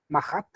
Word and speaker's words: Marat: un revolucionario llamado marath mahat se pronuncia mahat pero se escribe así como marat y mahat era la